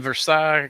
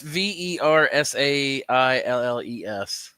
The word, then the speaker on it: Versailles: I live in Versailles, Kentucky. People here pronounce the L. Versailles? What'd you say, Samantha? Versailles? Is that how you say it? Samantha's family's from Kentucky. Well, it's Versailles.